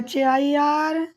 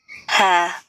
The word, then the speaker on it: hair: hair, है, Britain में है, अमेरिका में hair, हेयर। अमेरिका में थोड़ा र आता है, इंडियन में, अमेरिकन में, लेकिन ब्रिटिश इंग्लिश में लास्ट आर नॉट प्रोनाउंस।